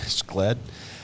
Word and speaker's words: SLED: SLED. Yeah, South Carolina Law Enforcement Division. They pronounce it SLED. They dropped the C.